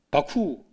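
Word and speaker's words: 幕府: 막부, 바쿠. 일본 발음은 바쿠입니다.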